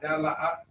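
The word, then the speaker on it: dalet: How you pronounce that? Dalath.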